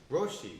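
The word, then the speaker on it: Róisín: Roshi.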